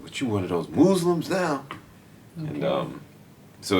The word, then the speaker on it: Mooz-lum: your movie tell us about that it's called Muslim m o o z-l and it's purposely mispronounced version of of uh Muslim uh and